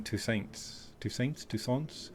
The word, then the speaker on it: Toussaint: province or even green Toussaint's, everyone asks me, well, I suppose if it's French you wouldn't pronounce the T.